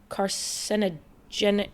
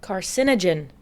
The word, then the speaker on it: carcinogen: Sorry to bring up the big C, but like alcohol is a proven carogenic. Oh my god, I can never pronounce that word. Carcinogen. No, carcinogen.